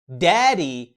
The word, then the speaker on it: daddy: ركز بقى في الكلمه الثانيه بتنطق daddy. لو خدت بالك هتلاقيني نطقت الدي الاولى قويه وواضحه قوي. ليه؟ عشان هي ما وقعتش ما بين صوتين متحركين، فمش هتتنطق لايت دي.